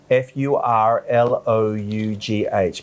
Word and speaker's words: furlough: without pay ก็คือทำงานโดยไม่รับค่าตอบแทน ส่วนใหญ่แล้วก็เป็นเรื่องเกี่ยวกับ intern ฝึกงาน ก็เป็น work without pay แต่ส่วนใหญ่แล้วคือมันมีอีกคำหนึ่งที่เราต้องสอนคือคำว่า furlough F-U-R-L-O-U-G-H เป็นศัพท์จากสหรัฐอเมริกา F-U-R-L-O-U-G-H จ้ะอ่านว่า furlough yeah furlough ในภาษาอังกฤษก็คือการที่จะปลดพนักงานออกโดยที่ไม่มีเงินเดือนมาจ่ายแต่ไม่ได้ขอโทษเอาใหม่นะขอเริ่มต้นใหม่การที่จะงดใช้พนักงานชั่วคราวและไม่จ่ายเงินผมยกตัวอย่างสมมติว่ามีรอบสองแล้วก็ไม่มีงานแล้วก็โรงเรียนก็ต้องปิดหมดเลยแล้วครับก็ไม่มีรายได้ของสถาบันการสอน Andrew Biggs Academy